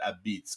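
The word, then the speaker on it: apizza: and but you know they call it AB beitz a p i z zaa and they pronounce it Ab Beats because you know I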